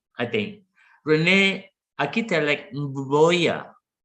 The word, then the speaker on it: Mboya: Rene Akitelek Mboya. Mboya, yeah. Did I say it right? Yes, perfect. Yeah.